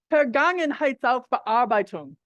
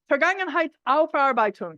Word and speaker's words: Vergangenheitsaufarbeitung: this German concept of Vergangenheitsbewältigung. Actually, I put in an extra syllable. I've been doing it the whole time. Vergangenheitsaufarbeitung. I put in an extra syllable before, you maybe didn't notice.